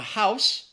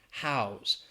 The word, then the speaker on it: house: here, rule of thumb, noun is pronounced with S and the verb is pronounced with a Z. So the noun, a house, which is where people